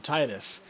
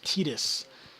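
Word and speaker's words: Tidus: who played this game called him Titus and it wasn't until a while later that I uh heard his name was actually supposed to be pronounce tetus so and I I've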